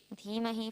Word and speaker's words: धीमहि: धीमहि क्या है? क्या है? धीमहि।